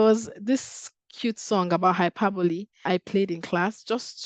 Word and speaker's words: hyperbole: this cute song about hyperbole I played in class just to emphasize on the pronunciation not hyper but Hyperbole and the song was